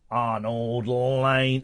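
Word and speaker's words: Arnold Layne: Arnold Lane. Is that how it's pronounced? Yeah, Arnold Lane.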